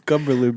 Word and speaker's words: Cumberland: It's Cumberland, bro. Cumberland? Oh, Cumberland. Oh, so I gotta say the nasty word first.